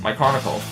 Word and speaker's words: Mikronikle: It's pretty simple you know it's like putting the putting together the name Mike and the word chronicle you know so you say Mike and then after you say chronicle so when you say it quickly that's how you get then that's how you pronounce my chronicle.